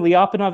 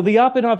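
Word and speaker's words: Lyapunov: name its name is does anyone know it rhymes with be off and off exponent have you ever heard the term lopov exponent so lopov exponent in in in Chaos Theory right you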